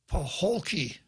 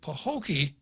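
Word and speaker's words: Paholke: a tough one p-a-h-o-l-k-e i suppose he would pronounce it pahokee but i suspect most people would pronounce it like a city on the shores of lake okeechobee in florida ben pahokee from representing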